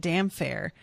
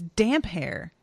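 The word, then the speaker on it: Damphair: and we pronounced it damn fair but it's damp hair it's just one word so the ph aren't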